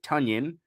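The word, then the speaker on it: Tonyan: in tight end Robert tanyon rhyming with Funyun which rhymes with onion which is the whole point of Funyun so we got Robert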